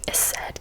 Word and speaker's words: Ecsed: It was called the Eced Castle, is how I'm going to pronounce it. It's spelled Ecsed.